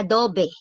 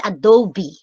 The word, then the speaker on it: Adobe: Hindi po siya Adobe. Okay? It's Adobe. Okay? Kasi IT term po siya. Kaya Adobe po ang tawag. Okay? Yun yung proper pronunciation niya.